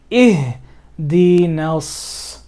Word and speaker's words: اهدنا الصراط: So look at this example. Ihdinas. I completely skipped this alif.